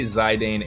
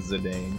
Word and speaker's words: Zidane: I don't really say Rhinoa that often, but I do say Zidane and Zedane for sure.